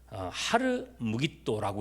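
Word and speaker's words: הר מגידו: 히브리어로 읽었을 때 이게 아마겟돈은요, 하르 무깃도라고 읽을 수 있습니다. 뭐라고요? 하르 무깃도. 이거를 헬라어로 음역하면 아마겟돈이 되는 거고요.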